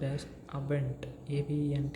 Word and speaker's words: Abend: Okay, ending with letters D gives the pronunciation as ta, t, ta.